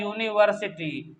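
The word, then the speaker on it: university: क्यों, क्योंकि ये यूनिवर्सिटी जब इसको प्रोनाउंसिएशन करेंगे, बोलेंगे, तो आ रहा है यूनिवर्सिटी, यानी कि स्टार्टिंग में या आ रहा है।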